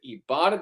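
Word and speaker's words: Ibotta: online Brands and retailers when you start with ebata that includes Lowe's Macy Sephora Best Buy and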